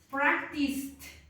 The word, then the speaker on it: practiced: When you collocate the ED, yes, the pronunciation is similar to T. Yeah? So in here, the pronunciation is watched, watched, practiced, practiced, worked, cooked.